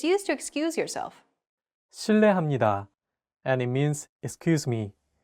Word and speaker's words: 실례합니다: 르, It sounds like a mixture between an R and an L sound. 르, 르. Altogether, it's 실례합니다. Okay, one last time. 실례합니다.